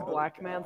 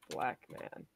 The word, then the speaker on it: Blackman: Normally people say black man, not black man. You're putting the emphasis on the wrong syllable there.